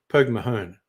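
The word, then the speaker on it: Póg mo thóin: Pogmathon, kiss my ass. Irish for kiss my ass. Pogmahone, most people say.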